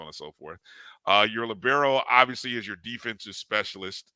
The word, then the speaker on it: libero: the I don't know how you pronounce it. Libero. Libero.